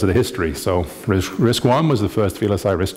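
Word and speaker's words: RISC-I: the first chips were risk one and risk two and they were called risk one and risk two not risk I and risk I I so it's not risk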